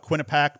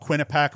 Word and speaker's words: Quinnipiac: just bellarmine uh so i thought quinnipac might be just a more simple pronunciation too i think i'm wrong i think it's quinnipiac but anyway st bonaventure